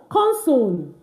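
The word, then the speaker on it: consonne: did not say cons I did not say conso I just said cons why the e is not pronounced at the end of our French words.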